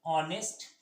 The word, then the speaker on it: honest: start with किसके साथ, start with consonant but pronounced as vowel, then we use, थोड़ा जगह कम है इसलिए छोटा लिख दिए हैं, then we used and vowel। जैसे एग्जांपल में ले लीजिए ऑनेस्ट, HONEST, तो उसमें क्या